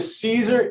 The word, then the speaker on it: Siser: Joe Piazza: My number one lesson for this class is how to properly pronounce seeds Caesar so say it with me. Joe Piazza: Caesar yes so as I a car that is